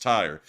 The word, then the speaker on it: Tyre: actually found out that this is not tier this is actually pronounced tire and so they probably